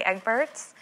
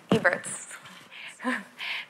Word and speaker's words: Eberts: so i'm going to first um welcome egberts eberts thank you and i always get mad at people for saying my name wrong and now i just did that to